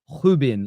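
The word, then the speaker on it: Rúben: And also, by the way, I found out today his name isn't Reuben. It's not pronounced Ruben. It's pronounced uh it's really hard to say. It's pronounced. It's like a Hubin. Like, a H at the front.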